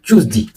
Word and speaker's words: Tuesday: Est-ce qu'on dit Tuesday ou Tuesday ? On prononce Tuesday.